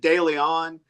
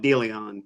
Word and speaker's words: De Leon: look at it and if you pronounce it De Leon, you're not wrong. But if you're from that little patch of Texas, a lot of people call it De Leon.